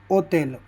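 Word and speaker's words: hotel: यह भाई साइलेंट होता है। इसे पढ़ा नहीं जाता। जैसे ओतेल ओतेल यानी होटल।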